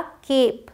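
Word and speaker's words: cape: जाए तो इसे हम केप पढ़ते हैं क्या केप अब देखिए तो इसका मतलब ए फिर कोई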